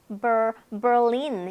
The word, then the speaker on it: Berlin: Berlin, 네, 베를린이라고 하고 있죠. 우리가 근데 영어는 Berlin 이렇게 발음을 합니다.